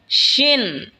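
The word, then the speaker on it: ش: এরপর হলো শিন। শিন জিহ্বার মধ্যখান তার বরাবর ওপরে তালের সঙ্গে লাগা উচ্চারণ হবে শিন।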